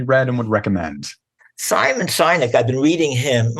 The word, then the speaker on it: Sinek: Simon Sinek. I've been reading him. Am I pronouncing his last name right?